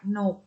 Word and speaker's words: กนก: ว่า กะ หว่าง คุณ กนก อ่าน ว่า กนก ตลก อ่ะ อ่าน ว่า